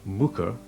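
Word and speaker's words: Muker: Pronounced Mooker, Mooker and Thwaite are derived from Old Norse words, meaning a small cultivated field and a woodland clearing, respectively.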